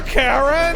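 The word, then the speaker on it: Kae'Ryn: Cut them more, Karen! How is Karen's name spelled? It is spelled K-A-E apostrophe capital R-Y-N.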